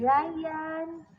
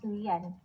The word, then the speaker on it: Rian: Ryan, I mean Rian. It's pronounced as Rian.